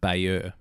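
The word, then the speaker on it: Bayeux: of core which is CAE en core it's pronounced and further to the west the town of Beier which is B a ye UX so grab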